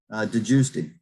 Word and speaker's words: DeGiusti: Help me, since I butchered your name. I usually butcher everybody's name the first time. DeGiusti.